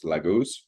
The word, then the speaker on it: Laguz: Um but the Proto-Germanic pronunciation of this symbol was Laguz.